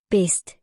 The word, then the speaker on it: bedst: The D sound is quiet when it is paired by consonant letters like S or T. Examples of words where D